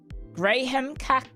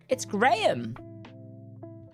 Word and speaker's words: Graham: It's Graham. Yeah, the H-A-M is like a yam, not a ham. Graham. That's how you say it, Graham. But in America they said it's Graham. It's always been Graham here.